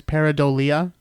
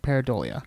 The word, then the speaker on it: pareidolia: right and i they're i think technically the correct way to say that term by the way is peridolia but i don't like that as much i like paradolia oh rolls off the tongue much better yeah if i had